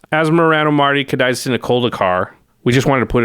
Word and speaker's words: Asmoranomardicadaistinaculdacar: Asmoranomardicadaistinaculdacar. We just wanted to put it on screen, something somebody put on Twitter, which is a pronunciation guide. So it's Asmoranomardicadaistina. I think of it as Daistina Culdacar. There you go.